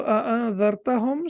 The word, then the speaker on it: أنذرتهم: So in both the Hamza has to be pronounced because in both uh, the Hamza is Hamzatul Qati'. So أنذرتهم. So here we have to recite the Hamza.